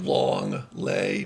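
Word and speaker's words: l'anglais: it's not english what long lay like like long lay but long way that's english and french like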